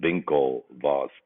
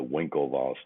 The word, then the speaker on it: Winklevoss: typically call them the vinkel boss twins and then v as the beginning of the w uh pronunciation which is the german way of saying it but most americans call them simply the winklevoss twins now you may